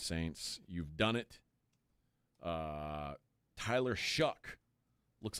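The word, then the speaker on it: Shough: Tyler Shuck looks like he might be a starting quarterback in the NFL. Yuck. You know what rhymes with Shuck? Yuck.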